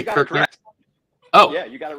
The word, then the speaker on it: Kirchner: Did I say Kirchner?